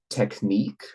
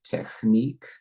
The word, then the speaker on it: technique: also the pr also the pronunciation of the of the word technique rather than technique what else there is